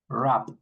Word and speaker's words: wrap: For example, in this word, we don't pronounce the W. We start with the R. R. R. Wrap.